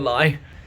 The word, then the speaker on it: Leigh: Way from Edenbridge to Leigh stations. Even though it's spelled like Leigh, you'd think it would be pronounced like that. It's not. It's telling a lie.